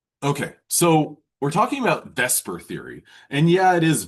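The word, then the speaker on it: VSEPR: So, we're talking about Vesper theory and yeah, it is V S P R, but it's pronounced V S Per.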